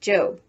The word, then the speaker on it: Job: off to her job which in the bible is pronounced job remember that the one